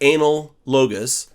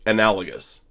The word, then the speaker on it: analogous: And here's analogous. Don't say analogous, because that's not correct. And dude, yeah, just don't say analogous. Say analogous.